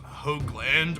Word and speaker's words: Hoagland: of those planky man my last name is pronounced Hoagland with a long o sound I think this is